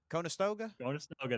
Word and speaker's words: Conestoga: I always say their name wrong. Conestoga? Conestoga, there you go.